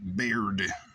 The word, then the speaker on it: Baird: Lucy Gray Baird. Like bird, but with an A. Or bard with an I.